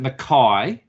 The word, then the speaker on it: McKay: I pronounced it McKay, which Yes. It's a surname familiar over here, but of course with the accent. And then you pronounce it McKay, is it? Is that correct? Yes. McKay. So they originally pronounced it McKay too, but that in the US was a few generations ago. So it's definitely McKay here.